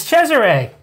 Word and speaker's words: Cesare: It's Cesare! That's how you pronounce that, by the way. It's not Cesare. It's Cesare.